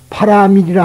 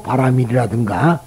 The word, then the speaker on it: 바라밀: 채지만 죄라고 읽느냐 하면은 불교에서는 된 소리와 센 소리를 하지 않는 가급적 피한다는 원칙에서 파라밀이라 하지 않고 바라밀이란 고체 안 하고 고제 그렇게 한다이 말이 고재란 인생은 인생의